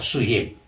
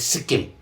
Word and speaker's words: Sikkim: the uh mhm is called name of Suhim. Like Actual name is the Suhim. Mhm. But Suhim when the British British they started writing book Mhm. So they could not get the uh proper pronunciation. Okay. So instead of writing as a Suhim they wrote it Sikkim.